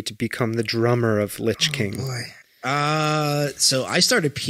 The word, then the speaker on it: Lich: It's not lick, it's not lish, it's not lynch.